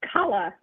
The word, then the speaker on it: Kayla: Everyone, this is Kayla, is it pronounced? It's Kala. Kala.